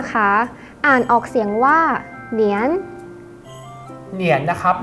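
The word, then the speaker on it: 年: คำ แรก นะ คะ อ่าน ออก เสียง ว่า เหนียน เหรียญ นะ ครับ มี ความ หมาย ออก เสียง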